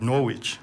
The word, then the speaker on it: Norwich: town norwich yeah uh and i'd pronounce it norwich yeah um and it's obviously having a sign on silent w so today's royal hustler